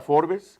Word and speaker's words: Forbes: Ustedes conocen la revista Forbes, que es así se escribe, Forbes. Pero dicen, no se dice Forbes, se dice Forbes.